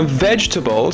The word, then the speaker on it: vegetables: vous pouvez répéter et vous voyzi que TR syllabes en vrai les si vous dites bien vegetables vous êtes now pr